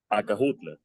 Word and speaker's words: Acajutla: Los españoles no podían pronunciar la SH. Entonces nos queda ese lugar. Acajutla.